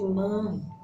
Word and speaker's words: Manre: Eu acho que a pronúncia é essa, Manre ou Manre, mas eu acredito que seja Manre.